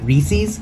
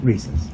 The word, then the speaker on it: Reese's: When the commercial first aired, the lady pronounced it Reese's, so it sounded like feces, and apparently Reese's got upset that that's not the way to pronounce it because that's not right. It's not Reese's, and they changed the commercial, so it is officially Reese's.